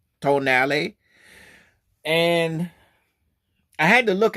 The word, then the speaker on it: Tonale: in case in case you don't know the pronunciation of this car some people might think it says a toell or to but it's not it's actually tonali tonali tonali or if you want to do